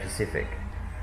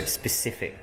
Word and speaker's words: specific: I always pronounce the S's because Cheryl always moans at me because I say Pacific. And she said Pacifically, and she says there's no such word. Pacific's an ocean. Yeah, I know, that's what she says. It's a big ocean. So specific, there will be a